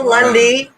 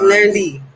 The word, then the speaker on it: Lundi: No, ain't no Lundy. It's Lundy. Lundy. Yes, it's Lundy. In French, Lundi means Monday. Yes.